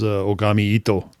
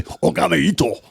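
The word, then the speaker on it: 拝一刀: Whole idea is the Lone Wolf is Ogami Itto. And he is You can't say it like that. You have to say Ogami Itto.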